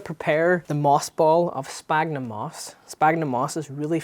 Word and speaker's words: sphagnum: It's pronounced with an F sound, like sphagnum.